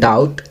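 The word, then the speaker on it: doubt: Second, डाउट, B silent है।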